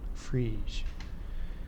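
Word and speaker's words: Friis: each free space equation freeze that's Danish apparently most of the people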